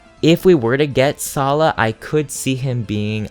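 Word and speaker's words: Saleh: probably salah who i thought his name was pronounced saily when i first played sacred stones as a child but then i listened to yuan's voice lines and it's pronounced salah so anyway for those who haven't played sacred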